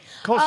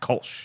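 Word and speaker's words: Kölsch: Kolsch, it's like the beer Grolsch. Yeah? Kolsch.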